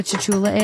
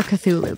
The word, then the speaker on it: Cthulhu: I'm so confused what a Tchula is.